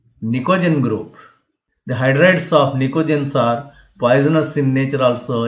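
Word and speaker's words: pnictogens: P is silent here, nicogens.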